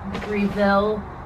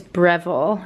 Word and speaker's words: Breville: really did thank you reville rayvel i'm pronouncing it wrong wow okay the pronunciation is breville it's an australian brand this is actually amazing